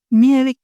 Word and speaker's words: Mielikki: Mir and Lovatar, the pronunciations.